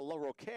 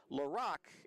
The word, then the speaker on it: LaRocque: Sometimes I write the names phonetically in the scorebook and don't put them in, so when I saw LaRocque, I thought, oh, that's a lovely French-sounding name, but it's actually pronounced LaRocque, Alan LaRocque, the catcher for the Comets of Mayville State.